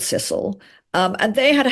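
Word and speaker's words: Cecil: quite fun like William the sisil are called sisle not cile um and they're still called sisle um and they had a house in those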